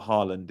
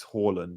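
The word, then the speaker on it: Haaland: jack that told me it was not harland it's horland and jack it is horland yeah your co-host if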